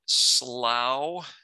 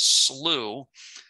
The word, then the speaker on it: slough: Now, I think some could say slough. My understanding is that the American pronunciation is slough, and the British pronunciation is slough. Okay, so if you're British, you can say slough.